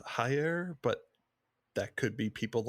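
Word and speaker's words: Jair: Brazilian J in uh the Brazilian Portuguese J sounds like the s in pleasure so it'd be Giants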